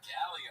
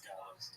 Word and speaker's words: Gallo's: Yeah, is that Galileo? He doesn't even say it right. No, it's Gallo's.